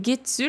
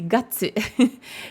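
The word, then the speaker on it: 月: Getsu, c'est la prononciation que tu retrouves, donc de ce kanji, dans getsuyobi, le lundi. Donc, c'est le même kanji de la lune. Il se prononce getsu quand c'est getsuyobi pour le lundi. Et c'est gatsu quand c'est les mois de l'année.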